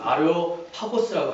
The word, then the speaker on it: 아레오파고스: 이 아레오바고는 정확한 발음으로는 아레오파고스라고 합니다.